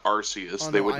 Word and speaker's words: Arceus: We have Arceus versus Filemon from Persona. Who? Arceus, man. Jeez. No, I know who Arceus is. It's Arceus as well, not Arceus.